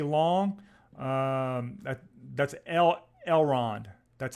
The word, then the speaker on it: Elrond: 34 so stay long um that that's el elrond that's how you say it elrond um i